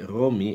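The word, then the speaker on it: Ῥώμη: la ciudad de Roma, porque Romi era la forma en que se pronunciaba Roma en griego. Se escribía con eta al final y eso solía ser pronunciado como una letra I, por eso decía Romi en vez de Romé o Roma. Eso es el hecho, este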